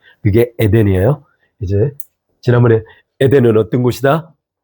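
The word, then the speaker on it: Eden: 지난번에 여러분 에덴이죠.이 영어 영어 영어 발음 어떻게 하죠? 이덴이 누구 알죠? 미션인스바 이덴 어 이덴 이덴 그게 에덴이에요.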